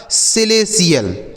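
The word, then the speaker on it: celestial: तो TIAL हो तो क्या पढ़ेंगे? CL पढ़ेंगे, TL नहीं पढ़ा जाएगा, गलत उच्चारण हो जाएगा। आगे CELETIAL, तो CELE हो गया बच्चों सिले, CELE सिले, और TIAL से हो गया आपका CL, यह लिखा गया आपका सिलेशियल। ठीक है, इसे क्या पढ़ा जाएगा?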